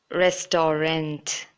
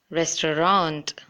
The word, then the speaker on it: restaurant: Most of them have this, usually pronounce this word that I've seen as restaurant. But that is not correct. It isn't the correct way of pronouncing it. It should be restaurant. Restaurant. There are two ways to pronounce this word too. You could either say restaurant or restaurant. So it shouldn't be restaurant, but restaurant.